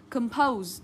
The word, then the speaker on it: compose: không sai câu này compose trọng âm rơi vào âm tiết số 2 không mang trọng âm